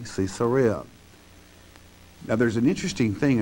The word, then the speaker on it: Caesarea: came to caesarea and some people today pronounce it caesarea okay properly cesarea now there's an interesting